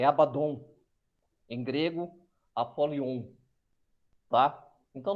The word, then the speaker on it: Abaddon: Que se pronuncia Abaddon, tá?